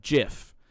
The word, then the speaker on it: GIF: the pronunciation of g typically if a word derives from german it's usually a hard g but if it is the latin or french derivative it's a soft g this adds to the assertion that jif uses the soft g sound because the word graphic